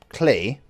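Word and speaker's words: Klei: Anyway, when it comes to Oxygen Not Included, it's the newest game by Clay, rhymes with play, and they are the ones that made Don't Starve Together.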